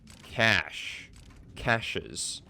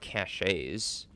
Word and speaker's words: caches: use out of them did you say caches I'm like very sure that it's just pronounced uh cash es not caches I mean maybe I'm wrong or maybe maybe it's one of those words that can be pronounced in multiple multiple different ways literally taking everything cool